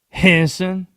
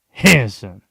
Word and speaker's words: Henderson: You want to know how the people in Henderson pronounce it? Henson. Two syllables. Henson.